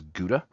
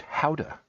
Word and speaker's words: Gouda: I think most people in the United States pronounce it as Gouda, but technically that is pronounced howa.